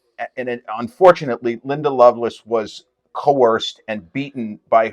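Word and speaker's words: Lovelace: Loveless movie it looks her name looks like love lace but it's pronounced Loveless hang on movie that's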